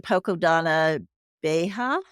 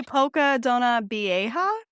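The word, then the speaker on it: Poça da Dona Beija: So we did go the second day to Poco Donna Beja. Is that how you pronounce it, Alex? I would say Poca Donna Vieja.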